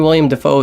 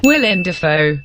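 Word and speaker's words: Willem Dafoe: it then who knows what we'll honestly casting William Dafoe is probably the best idea this movie had it's pronounced Weiland affair not only that but they're approached by having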